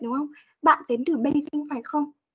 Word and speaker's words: Beijing: Trong tiếng Anh ấy, thì chúng ta đã đọc là chữ. Chữ. Đó, tức là nó sẽ hơi giống chữ trò một tí. Hơi giống, tức là chị vẫn phải chu môi này.